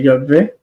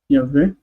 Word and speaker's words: Yahweh: But I pronounce Vav as V, so I say Yahweh. Yahweh. That's how I think it should be pronounced.